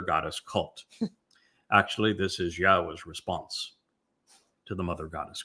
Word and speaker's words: Yahweh: Now imagine the single most important discovery that I made along the way is to prove that Yahwa's name YHWH is pronounced Yahwa.